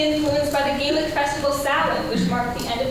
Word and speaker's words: Samhain: And no, Samhain is not spelled how you think it is spelled. They put an M in there.